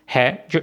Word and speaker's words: Hase: तो एस को आपने जेड प्रोनाउंस करना है और HAZA बन जाएगा हाजा यानी कि रैबिट।